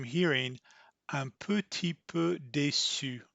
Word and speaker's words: petit: she had a hard time hearing un petit peu déçu right here. That is because French people almost will never pronounce petit. They'll say ti.